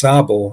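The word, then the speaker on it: Sable: Uh that's again pronounced sabul like a short a right there. There's little Sabo point in Oceanana County and then Big Sabell point up past Letington there up by Hamlin Lake.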